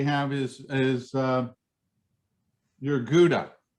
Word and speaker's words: gouda: is is uh your gouda sure or gauda gouda or if you're uh good at pronunciation which i'm not uh from from across the ocean i think they say is that a howda that's how they would say it from over there it's got um you